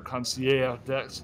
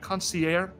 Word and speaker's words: concierge: You pronounce the G? English people pronounce the G. I don't know if it is in French. I don't speak French. Concierge? French, you just leave off the ending. You just leave everything say the first two letters and then mumble the rest.